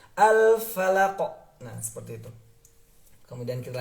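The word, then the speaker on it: الفلق: Tapi kalau di surah Al-Falaq sama. Min syarri ma khalaq. Seperti itu teman-teman ya. Kemudian ketika kita bertemu dengan huruf qaf sukun, ada pantulan. Jadi bukan al-falaq, tapi al-falaq.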